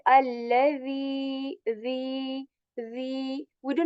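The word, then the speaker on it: الذي: Because this the is very soft, and we pronounce it when we put the tip of our tongue on the upper lips, on the tip of our upper lips, and very softly. Okay, we say allazi, the.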